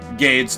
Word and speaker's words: Gades: Should I say Gades or Gades? I'm assuming, like, Gades because my mind went to, like, Hades. So I kind of made it rhyme with that.